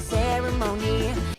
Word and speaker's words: ceremony: While 18 has its emphasis on the last syllable, ceremony has its emphasis on the initial and second to last syllable.